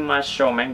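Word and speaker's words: 真正面: Ini mashomeng bacanya.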